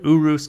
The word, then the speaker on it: Urus: a lamborghini urus and yes i said urus guys because that's how you say it in italian now the lf is